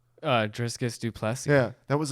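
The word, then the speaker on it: Dricus Du Plessis: Driscus Duplessis.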